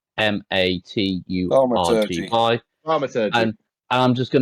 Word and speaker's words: thaumaturgy: It's spelled THAUMATURGY.